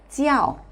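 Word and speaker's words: 叫: 같은 경우 jiao 있데요 대부분의 어 학습자들이 쌍지 발음을 내려고 하다 보니이 쌍지 발음과 아오가 결합이 되어서 짜오가 돼 버려요 그런 분들 많아요 짜오 아니라 지아오 지아오이이 발음이 중간에 사라지지 않도록지 자 한번 따라해 보세요지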